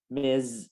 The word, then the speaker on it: Miss: mattress oxygen tank for miss jones miz so this is here we pronounce it as z miss jones to help